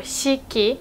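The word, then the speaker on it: 四季: In those jukugo or compound nouns, most of the time we'd read it like shi, so shiki, or there is a word shikuhaku.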